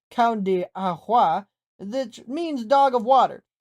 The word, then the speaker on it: Cão de Água: The breed is known in native land as the Cão de Água, pronounced Cão de Água, which means dog of water.